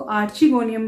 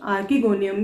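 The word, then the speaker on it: archegonium: कुछ इसको आर्चीगोनियम भी प्रोनाउंस करते हैं, कुछ आर्कीगोनियम भी, आप कुछ भी कर सकते हैं।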